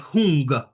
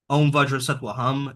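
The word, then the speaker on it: hūṃ: Whom is pronounced like hung like h u n g h like hung right that's more powerful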